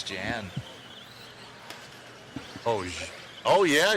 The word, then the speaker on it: Jan: Jan or Yan? Yan, I think you're right. Um, one of my favorite fighters is named Yan Blahovich and he's from the same area and it's spelled Jan.